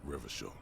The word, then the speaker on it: Revachol: It is a seal of Royalist era Revachol. Yes, I know I pronounce the city differently, but it just, with this spelling, it feels so much better with the hard CH to me.